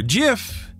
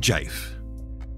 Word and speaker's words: GIF: knows their preferred pronunciation gif for jiff we don't care we're taking mike rugnetta's suggestion of equally appropriate pronunciation and going with jife for more on that